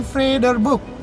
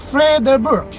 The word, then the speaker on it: Vredeburg: yang kelima ada Benteng Vredeburg free the book free the bridge Hai benteng vrederburg jadi ini ejaannya Belanda nih brur benteng ini merupakan